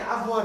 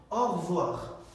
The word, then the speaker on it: au revoir: অনেকে avoir বলে, avoir, বিষয়টা কিন্তু avoir না। দেখুন এটা হচ্ছে au revoir, revoir।